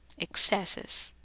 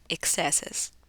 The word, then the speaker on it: excesses: está escrito lo pronunciamos aquí el estrés va a ser en la segunda sílaba excesses One excesses aquí el estrés está